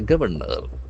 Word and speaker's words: governor: The door is Canada governor. Governor. G O V E R N O R. So here we can see that the accent force on the first syllable.